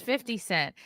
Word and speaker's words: 50 Cent: right what white people should always clearly pronounce 50 Cent he's not fitty for you immutable characteristics